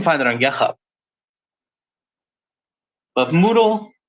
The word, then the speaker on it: Moodle: can just look for Moodle spelled like noodle but with an M there it is Moodle